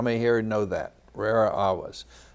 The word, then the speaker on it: rara avis: Rara avis. You might know it if I mispronounce it. It would be rara avis, avis being bird, rare bird.